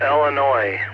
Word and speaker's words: Illinois: you pronounced it wrong it is Illinois with no s oh goodness I got